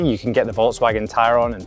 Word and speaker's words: Tayron: And yes, that's right, I pronounced it correctly, Tayron, not Tayron, like you might think.